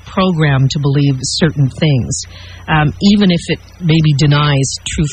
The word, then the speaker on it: AVEN: Munich she is a member of even is that how you pronounce it if I have that correctly and yes as you said even Haven for you I want